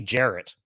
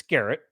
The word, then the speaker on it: Garrett: People call me Jarrett. I'm like, it's Garrett.